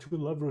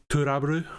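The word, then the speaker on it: To Love-Ru: To Love Ru sounds way better. I know, but I don't know. Just I've heard that it's supposed to be pronounced like Turabru, which is trouble.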